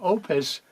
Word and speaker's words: Oupes: the Opus Mega 5 this is an oops some people mispronounce that it's the Opus Mega 5 solar generator power station so first